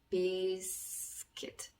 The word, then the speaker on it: biscuit: T 해서 적어주시면 발음이 biscuit 이렇게 되겠죠. biscuit. 자, U는 그래서 비스커이트 뭐 이렇게 읽으면 안 되고요. biscuit 이렇게 생각을 해주시면 되겠습니다.